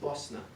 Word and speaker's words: Bosna: I think I'm pretty sure and Bosnia is pronounced Bosna awesome technically it's Bosnia and Herzegovina Boston ie